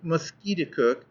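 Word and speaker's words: Musketaquid: name of conquered River he pronounced it mosquit cook emphasizing the second syllable with a peculiar guttural sound and said that it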